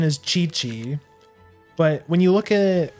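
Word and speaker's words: Qiqi: But no, it's it it's it's it's Chi-Chi, you know, like like uh Goku's wife from DBZ.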